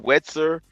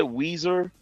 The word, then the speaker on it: Weezer: Wetzer. How do you pronounce it? Weezer. Weezer.